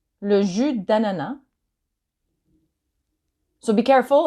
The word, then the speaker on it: jus d'ananas: So be careful, it's not le jus d'ananas. I've heard that before. It's not that. It's le jus d'ananas. So you don't pronounce the S in jus and you don't pronounce the S in ananas.